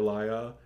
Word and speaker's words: Lia: was Leah, or L-I-A, which I guess would still be pronounced Leah. I think Leah. Yeah, or Laya.